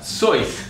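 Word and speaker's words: Seuss: Zeus pronounced his name so that it would rhyme with rejoice. Zeus rejoice? Doesn't really rhyme. That doesn't rhyme. But his original pronunciation was sois. Sois.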